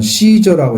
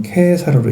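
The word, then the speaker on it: Caesar: 그래서 아우구스투스는 카이사르, 이제 뭐 이게 영어 발음식은 케사르 이렇게 있고, 또 어디서는 시저라고 읽잖아요. 근데 여기는 케사르로 읽습니다. 왜냐하면 이게 발음을 라틴어로 하기 때문에 그렇게 되어 있죠.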